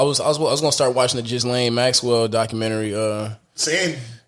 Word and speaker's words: Ghislaine: Ghislaine. Ghislaine Maxwell. With the J.